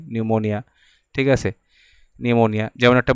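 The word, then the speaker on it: pneumonia: দেবে তারপরে যেমন কি নিউমোনিয়া বানান দিবে সেটা পি দিয়ে শুরু হয় নিউমোনিয়া ঠিক আছে নিউমোনিয়া যেমন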